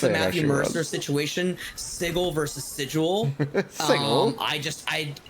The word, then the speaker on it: Sigil: It's sigle. It is. And it's spelled the same as the word sigil, but they pronounce it sigle.